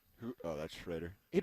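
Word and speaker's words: Schrader: Yeah, Shredder is how you say it.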